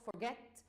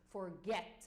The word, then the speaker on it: forget: be taken into consideration when I say for example not forget it's forget not forget for example it is forget the stress is on get for example in terms